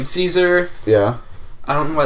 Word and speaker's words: Caesar: it latin all um all the c's are pronounced with hard c's so it would be with a k and not a and